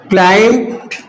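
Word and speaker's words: climb: जैसे the Hunter सा the lion the Hunter saw the lion दूसरा नेक्स्ट सेंटेंस है ही क्लाइम क्लाइम बी को साइलेंट बोलते हैं ही क्लाइम्ड अप अ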